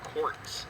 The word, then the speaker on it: Kautz: one at the uh great site of Robert courtz is the the way that he's um the name is pronounced um so when it comes to raising